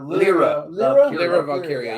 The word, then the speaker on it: Lyra Valkyria: And Lyra Valkyria, I can never pronounce her fucking name right. Lyra right. Valkyria or Lyra Valkyria. You had it right.